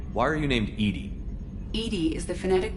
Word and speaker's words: EDI: the medical Bay why are you named Ed Ed is the phonetic pronunciation of Eed that is an acronym for